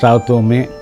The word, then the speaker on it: Santhome: the Santhome area, and it should be correctly pronounced Santhome.